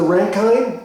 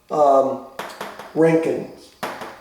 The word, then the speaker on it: Rankine: zero this is the rankine or the ranking the ranking i think it's pronounced rankin measurement so this is